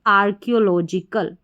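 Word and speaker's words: archaeological: जो बीच में है सी एच ए ई ओ तो इसको आपको ऐसे ही मेमोराइज रखना है याद रखना है कओ करके इसको पढ़ा जा रहा है तो आर्कियोलॉजिकल चलिए बढ़ते हैं नेक्स्ट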